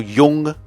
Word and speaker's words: Jung: But you know what the great 20th century psychologist Carl Jung said? I think that's how it's pronounced.